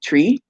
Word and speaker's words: Twi: akan people um and they speak tree which is spelled twi and so again like